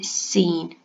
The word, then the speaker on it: scene: has a silence see I don't say skiing I say scene so words with a